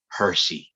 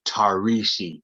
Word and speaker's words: Tarishi: in eighth grade when the classmate called me hershey he found it difficult to pronounce tarishi if you go out your english to teachers they kind of like your tongue so you can speak stanislavski no da vinci sikorsky learn how to say tarishi is easy it's only